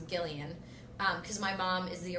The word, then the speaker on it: Gillian: My mom didn't know that most people pronounced it Jillian. So she saw it in a name book and she assumed it was Gillian.